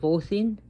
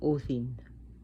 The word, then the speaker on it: Odin: as the son of orthin and they don't even pronounce the names right odin is actually o thin the d is a d h sounding so a quick so